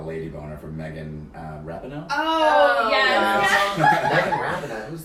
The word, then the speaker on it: Rapinoe: But since I've discovered Megan, it's actually Rapinoe.